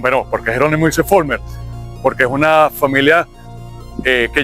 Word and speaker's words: Vollmer: Y la V se pronuncia como una F. Pero indistintamente se puede decir también Vollmer.